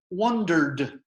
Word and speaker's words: wondered: And if you listen to what I said again, the ending here, the ed ending, wondered. Wondered. It's a more traditional D sound.